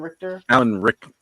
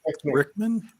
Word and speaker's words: Rickman: Alan Richter? Richmond? Rickman?